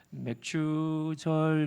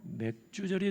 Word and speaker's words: 맥추절: 맥추절 그러면 생소합니다. 교회 생활 오래 한 분도 낯선 이름이 맥추절입니다. 잘못 발음하면 이게 안 되죠. 맥주절이 된가?